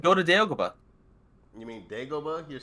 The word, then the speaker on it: Dagobah: to I'm Dagobah.